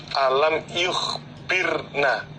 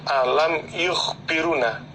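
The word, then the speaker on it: يخبرنا: Alam yukhbiruna, itu yang betul alam yukhbirna, bukan alam yukhbiruna. Jadi di atas roknya itu ada domahnya diganti sukun. Jadi membacanya alam yukhbirna.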